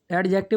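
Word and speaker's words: adjective: a verb an एडजेक्टिव, एडजेक्टिव नहीं पढ़ते हैं, इसे ए और जे के बीच में डी साइलेंट रहता है, और एनोदर एडवर्ब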